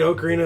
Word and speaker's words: Ocarina: me a Nintendo 60 before um I played Ocarina of Time on it as Legend of Zelda